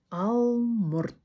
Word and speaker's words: алмұрт: Сегодня мы будем запоминать такое слово, как алморт. Алморт. Вот это вот у с чёрточкой, оно звучит глухо. Не у, а алморт.